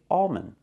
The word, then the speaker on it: almond: Palm calm and alond don't make a complete L don't say almond say almond don't say calm say